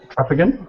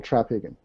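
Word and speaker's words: Traphagen: article cool hi Trapagen hello hello did I pronounce that right close enough closer than most so we'll accept it trapagan okay uh the accent's actually in the first syllable trapagan trapagan got it go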